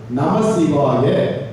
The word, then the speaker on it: நமசிவாய: அப்ப நமச்சிவாய சரியா, நமசிவாய சரியா என்ற ஒரு வினா எழுகிறது. எளிமையாக புரிந்து கொள்ளலாம். மந்திரமாக, ஐந்தெழுத்து மந்திரமாக உச்சரிக்கும் பொழுது நமசிவாய, அங்க இச்சு சொல்லக்கூடாது. ஆனால் பெருமானுடைய திருநாமமாக நாம் சொல்லும் பொழுது நமச்சிவாய என்று சொல்ல வேண்டும்.